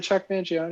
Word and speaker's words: Chuck Mangione: just like Chuck Mangione am I saying it wrong is it Chuck Mangione no you're saying it